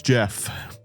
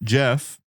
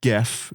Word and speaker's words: Gef: the Irving family as Jeff, uh, which is not pronounced GE, even though it's spelled with a G, it is pronounced Jeff.